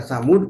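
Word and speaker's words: ثمودا: Jadi kata samud kalau di wakaf dibaca namanya disukun, kalau di wasol dibaca satu harokat. Walaupun ada alifnya di dalam Al-Quran, tapi alifnya harus kita buang, ya, secara baca, ya, buang dalam kondisi baca, ya, gitu, ya.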